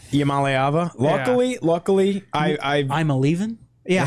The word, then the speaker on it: Iamaleava: Iamaleava? Luckily, I'm a leaving? Yeah, how perfect is his name is basically I'm a leaving.